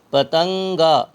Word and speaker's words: پتنگا: کر کے پڑھتے ہیں۔ پتنگا، یہاں ہم اگر گاف کے علاوہ پڑھیں گے تو یہ ہو جائے گا پتنگا، جیسے کن کا، ان کا، تو یہاں پر ہم ان کو نون کو الگ نہیں پڑھیں گے، ملا کر کے پڑھیں گے۔ پتنگا، پے زبر پا،